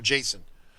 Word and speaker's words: JSON: of course use filemakers json functions or call mbs functions uh-oh kyle's going to get aroused standby kyle's getting aroused he said json or jason you have to say it like that right so yeah and